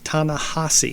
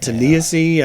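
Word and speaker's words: Ta-Nehisi: author's name right and his name is actually pronounced tanasi T I always been saying it wrong right well I mean haven't we all I think I said tasy I think I've said so many things but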